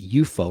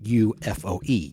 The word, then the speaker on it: UFO: like unidentified flying object, but they call it UFO, like an enemy. Like it should be spelled UFOE, UFO. That's how they pronounce it in this show.